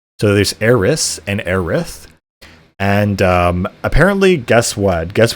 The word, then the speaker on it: Aerith: So it sounds like, a Japanese pronunciation of the word Earth, which just sounds very